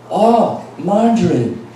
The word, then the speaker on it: margarine: 그랬더니 margarine. 미국에서는 마저린이라고 발음을 하거든요.